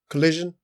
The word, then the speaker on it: Collison: Collison, yeah.